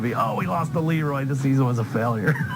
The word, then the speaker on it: LeRoy: Caledonia, Mumford, probably the only towns that pronounce it LeRoy and not LeRoy. Yeah, because it rhymes better with destroy Leroy.